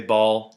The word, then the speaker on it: Baal: This is a figurine or an idol dedicated to Bale. B A L. I say ball. Apparently, it's pronounced Bale.